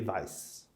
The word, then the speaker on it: Weiss: So, and of course, W's are pronounced as V, so it would be Weiss. And you get to America, it becomes Weiss because we pronounce W's differently.